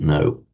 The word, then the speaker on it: know: So, root jna, cognate, as you know, with our English word know, where we still write the etymologically derived k, but without pronouncing it. So we write kno, but say no.